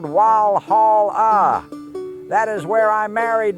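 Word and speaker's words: Walhalla: But because the German W sounds like a V, they spelled it Wal Hall. As you know, to this day, it is pronounced as it is spelled Wal Hall.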